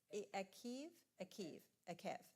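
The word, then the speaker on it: Eikev: Sharon, pronounce it for me. Akev, thank you.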